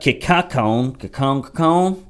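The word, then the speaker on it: Kincannon: With paying an outside firm to locate and hire the city's next police chief, Knoxville's Democratic Mayor India Kikakon, that's how you pronounce it, that's the English translation, and her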